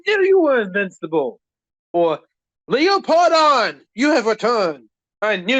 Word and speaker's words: Leopardon: Leopardon. Like Leo, like the lion, pardon.